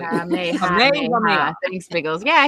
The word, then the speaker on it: Kamehameha: Thank you for spelling it out phonetically. Kamehameha.